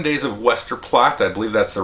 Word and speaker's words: Westerplatte: uh so anyway this is 7 Days of Wester plot I believe that's the right way to pronounce it uh definitely take a look at